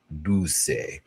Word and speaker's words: Dulce: I've been saying Dulce, and it's Dulce.